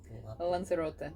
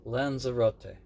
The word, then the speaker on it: Lanzarote: Lanzarote. Lanzarote.